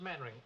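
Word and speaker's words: Mainwaring: sit down thank you actually it's pronounced maning why the devil don't you spell it maning you the LDV fell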